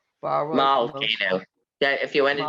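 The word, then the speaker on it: מלכנו: Baruch Eloheinu, Baruch Adonenu, Baruch Malakenu, Baruch Malkenu. Yeah, if you want to do it right. Malkenu, right? It's a short vowel, so it ends the syllable.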